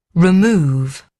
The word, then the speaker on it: remove: Remove.